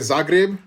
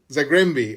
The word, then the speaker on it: Zagłębie: And that move from, am I saying it right, Zagreb? Or Zagreb? Zagłębie.